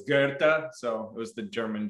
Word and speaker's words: Goethe: It's by the like the author, and everyone pronounces it Goethe, but it's Goethe.